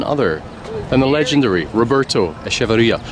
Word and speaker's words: Echeverría: correct yes you did if I say straight Chilean is Roberto AIA okay that's good that's